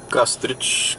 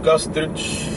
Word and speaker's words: Кастрич: село резово до плаж кастрич или кастрич кой както реши така да слага ударението излизаме от село резово